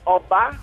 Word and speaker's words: Oba: My name is pronounced Oba, which means king.